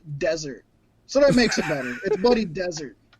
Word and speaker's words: Dessert: It's spelt dessert, but it's pronounced desert.